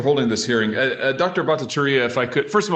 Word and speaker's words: Bhattacharya: and thanks for holding this hearing uh dr bhattacharya if i could first of all am i pronouncing your name right just fine thanks goodbye